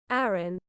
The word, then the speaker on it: Arran: Um, Arran. I mean, it does sound like Aaron. It does actually. I'm saying Iran, but I think it's Aaron.